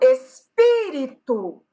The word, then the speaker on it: espírito: E outro exemplo, espírito. Tenho 4 sílabas, mas a sílaba tônica é a antepenúltima.